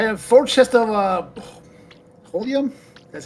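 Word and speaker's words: Holmium: I have four chest of uh Holium. That's how you pronounce it.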